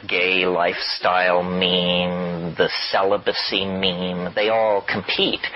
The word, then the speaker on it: meme: and they're like genes the word is deliberately constructed to rhyme with gene and so when I say every woman should have considered having only one child that to me and that meme goes out into society